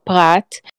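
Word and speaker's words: פרת: in the hebrew it calls the river the parat i'm assuming that's the same as the euphrates i really don't know i don't know yes so that's it's pronounced prat um in the bible it it's always um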